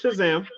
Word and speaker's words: Shazam: said it right you said it right it's Shazam yeah I'm a little bit of a comic